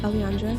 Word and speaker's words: elliandra: um and it's yeah it's pronounced Alandra so I get I